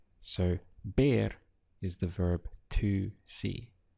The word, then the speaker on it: ver: see in Spanish is bear spelled v e bear now it sounds like the English word bear and that's because this V is always pronounced like the letter B in English so bear is the verb to